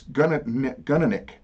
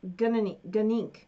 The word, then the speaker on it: Gunink: of our subscribers, Steve Gunnick. I think I'm saying his name wrong. It's Gunnick. You know, no, it's Gunink. Steve Gunink.